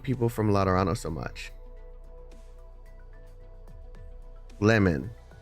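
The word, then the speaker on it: Lemuen: Lemon. It's lemon. Why don't they just spell it that way, man?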